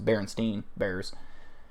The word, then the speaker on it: Berenstain: I would say that's not how it's pronounced. It's Berenstein Bears.